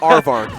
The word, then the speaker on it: Aarvark: right I I actually don't know how to pronounce his name so I'm just it's arvar arvar all perfect he actually came over here